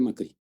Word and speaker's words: Macri: a colônia grega, então meu sobrenome vem do macro grego, mas pronúncia Macri.